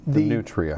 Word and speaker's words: nutria: But I want to open with this picture of this furry little, I almost said cute, how do I pronounce this? The nutria. The nutria.